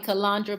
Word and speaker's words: Calandra: there for b-box uh my name is calandra most of you know me as it's calandra some people call me calandra but it's calandra that's how it's pronounced tim i can't i